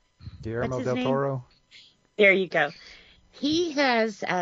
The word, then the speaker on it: del Toro: other thing I don't know if I can pronounce his name Colombo yeah Del toormo del Toro there you go he has Pinocchio I think